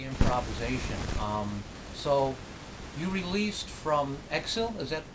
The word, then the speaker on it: Exil: So you released from Exil, is that how you pronounce it?